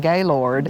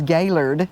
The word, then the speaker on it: Gaylord: I know before we came, it's spelled Gaylord, so we yes. were saying Gaylord. Yep. And we got here and found out it's Gaylord, Yes.